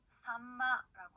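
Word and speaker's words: さんま: 자, 예를 들어서요, 삼치라고 하는 생선은요, 일본어로 산마라고 합니다.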